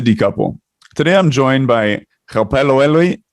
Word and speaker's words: Gaopalelwe: So it's Gaopalelwe. Instead of saying Ga, it's Gaopalelwe.